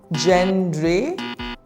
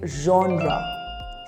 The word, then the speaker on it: genre: tricky but then how do you say it gendre genre the correct pronunciation is genre repeat after me genre my favorite genre of